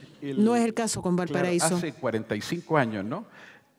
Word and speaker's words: Valparaíso: Y Chris Marker dice, mal pronunciado la francesa, Valparaíso. Es Valparaíso, Valle del Paraíso.